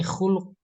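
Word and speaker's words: خُلُق: Terus ketemu di sini khuluq. Sama tulisannya, bacanya beda. Khuluqon.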